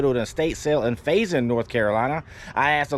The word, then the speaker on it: Faison: town to go to an estate sale in Faison, North Carolina. I asked the local how you pronounce it.